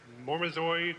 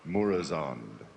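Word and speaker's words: Murozond: In the upcoming 4.3 End of Time, we get to kill, how do you pronounce it, Mormazoid, or the evil Nosdomo? Murazond.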